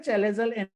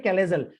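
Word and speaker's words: chalazal: उसका pronunciation in some countries it is called as कैलेजल एन, इन सम हम लोग बोलते हैं इसको चैलेजा, ठीक है, चैलेजल एन या फिर कैलेजल एन उसको बोला जाता है, ठीक है। प्रोनाउंसिएशन उसका अलग अलग हो सकता है।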